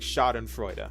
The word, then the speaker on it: Schadenfreude: Sparkle's trailer, it's like Schadenfreude, right? I believe that's how that's pronounced.